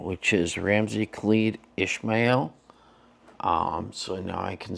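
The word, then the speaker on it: Ramsey Khalid Ismael: and this time I figured out how to pronounce his legal name which is Ramsey khed Ishmael um so now I can say that with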